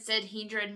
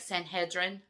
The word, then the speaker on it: Sanhedrin: the Sanhedrin itself is um now there's another like more proper approach uh um pronunciation of Sanhedrin but I've said Sanhedin my whole life so I can't say it that way without it sounding weird and feeling weird to me so it's like Sanhedrin is how it's really